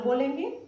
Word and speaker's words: bowling: इसको बोलेंगे बोलिंग, नॉट बॉलिंग, बॉलिंग।